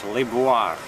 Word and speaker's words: Liboire: Luis, that's the way they pronounce it in French, Libu. And it's spelled L I B O I R E. Librii. Libir.